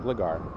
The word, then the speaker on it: Gligar: that'll be the first G uh sorry I'm pronouncing it wrong Gligar uh that's right there yeah let's get the